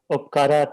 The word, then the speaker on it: Upkar: to pronounce it as Upkara Technologies? So over to you, Dr. Pravanshu and Dr. Laura. No, Upkar is the right word, but right. it has been anglicized.